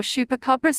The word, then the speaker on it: chupacabra: The chupacabra or chupacabra's Spanish pronunciation chupacabra, as literally goat sucker from Spanish